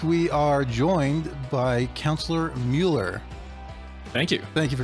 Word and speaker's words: Muller: also learned that your your last name is pronounced mueller even though it's even though it kind of